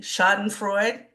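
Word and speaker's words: Schadenfreude: and I have to say um help me pronounce it correctly shot and Freud Yep.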